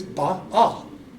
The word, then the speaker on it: Baal: And like for me, it's not Baal, it's Baal. Like, you know, the Babylonian god. And even Kitty goes, dude, why do you pronounce it like that? I said, because that's the way I learned it, because I was told that's the right way. It's B-A, B-A, and in the Hebrew it's Baal.